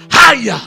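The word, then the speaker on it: חיה: But if you can speak life, Kavah, C-H-A-Y-A is the Hebrew word, but it pronounces Haya.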